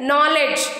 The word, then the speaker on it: knowledge: So K is silent. Knowledge, knife, knee, night. In all these words, K is coming before the letter N. So K will be silent in this case.